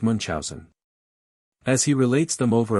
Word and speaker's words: Munchausen: Adventures of Baron mon commonly pronounced Munch Housen as he relates them